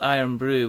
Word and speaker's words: IRN BRU: There's a traditional Scottish drink called Iron Brew, which is spelled IRN BRU.